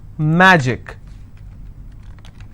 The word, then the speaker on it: magic: Magic, I will stress on ma.